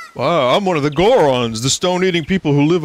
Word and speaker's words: Goron: No, Goron doesn't rhyme with moron for a reason.